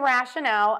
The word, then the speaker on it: rationale: type of number and rationale a noun which is a reason or explanation these words are pronounced very similarly but the stress is going to be a little different so let's focus on